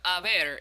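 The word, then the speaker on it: haber: want to talk about the verb aver is totally irregular to us remember that the h in spanish is silent lucky for you you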